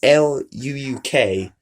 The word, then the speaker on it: Luuk: It's Luuk. It's hard to pronounce, but they're down in the description if you want to go subscribe to them.